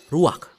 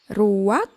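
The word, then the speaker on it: רוח: Kata dalam bahasa Ibraninya adalah ruach. Ruak? Ya, benar. Tenggorokan kita harus benar-benar bersih di akhir pengucapan.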